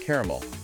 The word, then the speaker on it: caramel: And the classic caramel, two syllables versus caramel, three syllables.